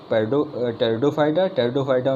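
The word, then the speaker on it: Pteridophyta: 5 के पी से टेरिडोफाइटा में पी साइलेंट होता है तो वो उसका पी वहाँ से।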